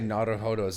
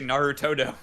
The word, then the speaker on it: Naruhodo: Yeah, you say Narutodo. Jesus. No, it's pronounced Naruhodo. It's Naruhodo. I've dubbed enough anime to have heard that word 700 times.